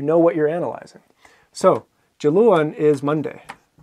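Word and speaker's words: Diluain: So, Jaluan is Monday. Jamarsh, Tuesday. Jakiaten, Wednesday. Okay? And as you just heard, it's a J sound at the beginning.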